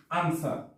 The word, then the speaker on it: answer: যেমন আনসার। আনসার, এখানে কিন্তু আনসার, এখানে ডাব্লিউ উচ্চারণ হয়নি বা সাউন্ডটা হয়নি।